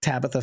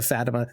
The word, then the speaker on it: Fatima: she know that Tabitha sorry not tabith Tabitha Fatima they sound very similar they have the same syllables I just Tabby Fabby